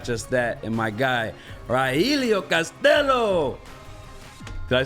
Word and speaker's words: Rogelio Castillo: And my guy, Rogelio Castillo.